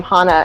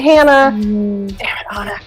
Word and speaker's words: Hannah: up kids because then they want to pronounce my name Hana and I'm like it's a Hannah anyway second one unbreakable